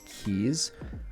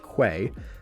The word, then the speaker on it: quay: place what are called keys i've known i've never understood the pronunciation they're they look like they would be pronounced quay but a key is